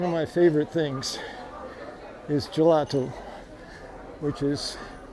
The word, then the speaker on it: gelato: my favorite things is gelato which is I just pronounced it intentionally in a Italian way ice cream in Portuguese